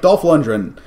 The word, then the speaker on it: Dolph Lundgren: Dolph Lundgren. It's a hard G.